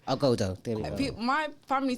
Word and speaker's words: Ogodo: Ogodo. Ogodo.